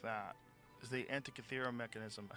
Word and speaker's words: Antikythera: Is the Antikythera mechanism?